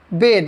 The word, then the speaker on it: bathe: Noun बात है यह नाउन और जिसको आप अभी तक बात पढ़ते आए हैं वो बात होता नहीं है। दरअसल वो होता है वेद। इसका प्रोनाउंसिएशन होता है वेद।